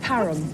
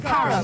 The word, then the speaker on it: Parham: Yes, at Parnham House, yes, definitely, but we're not sure where you've got to go when you get there, Annie. Friendly little shot, that, Graham. It's pronounced Parham. Parham.